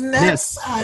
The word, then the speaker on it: NebSa: Oh, it's NebSa. It's phonetic. N-E-B-S-A. NebSa. Sorry, there are not very many English names that start with N-E-B. I like that. So we just call her Miss NebSa, right?